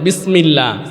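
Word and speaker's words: بسم الله: বিস বিস হবে হ্যাঁ বা উচ্চারণ হয় ঠোঁটের ভিজা অংশ থেকে কোন অংশ থেকে ভিজা অংশ থেকে বিসমিল্লাহ বিসমিল্লাহ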